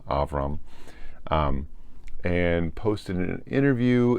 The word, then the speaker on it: Avram: Story the gollum and that's the correct pronunciation of his name avram not Abram avram um and posted an